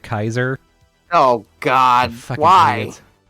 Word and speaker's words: Caesar: Vegas is that like half the people pronounced it Caesar and the other half pronounced it Kaiser.